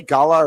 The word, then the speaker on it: gala: Now, do you say gala or gayla?